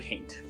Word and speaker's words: haint: Wayward haint. Hate, like the emotion? Yes, but it's spelled... Yeah, Well, like that's how it's pronounced? Yeah, it would be wayward haint.